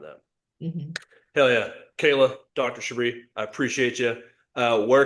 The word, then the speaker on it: Shabre: And Shabri is spelled S H A B R E on the screen right here.